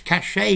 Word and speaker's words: cachet: Cachet is very French. Notice I'm not pronouncing the T, which tells you it's French.